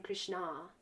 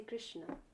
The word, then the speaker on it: Krishna: You know, there's no need to be saying Krishna. That means Draupadi. Take the time to say Krishna.